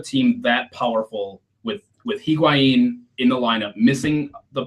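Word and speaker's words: Higuaín: to be tragically funny the H is silent by the way I am not Hispanic I will speak it like an like an American wow and before this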